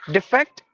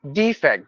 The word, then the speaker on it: defect: at this word again defect defect there are two pronunciation with this word if you say defect it means fault mistake error but if you say defect it means moving from one place to another for example I'm